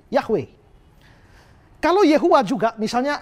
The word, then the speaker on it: Yahweh: karena ini aturannya nah lalu bacanya Bagaimana nah seringkali sekarang dibaca menjadi yahwe Hai kamu jauh juga